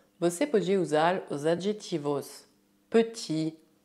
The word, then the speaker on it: petit: No masculino, o T é mudo, mas no feminino devemos ouvi-lo. Petit, petite.